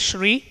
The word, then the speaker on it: Sri: myself as she said my name is Sri rhymes with tree if that's easier for